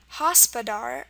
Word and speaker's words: hospodar: a great word hospodar hospodar um the a sound here is spelled with an O um it might be reminding you of the word hospital I don't know if